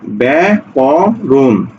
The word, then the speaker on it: ব্যাকরণ: ব্যাখ আকারে খা ব্যাখ্যা ব্যাকরণ ব্যাক রুন ব্যা ক রৌকার দন্তন্য